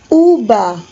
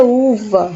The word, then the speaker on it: uva: fruta pera e aqui UBA UBA a gente fala uma Lembrando que o ver na liga espanhola tem o som de bebê então Uba É uva certo quando a gente